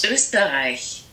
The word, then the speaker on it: Österreich: This word is the country Austria, and in German you would pronounce it Österreich.